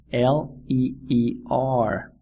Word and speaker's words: leer: book to read in Spanish is leer it is spelled l e e r and it is pronounced leer imagine you're walking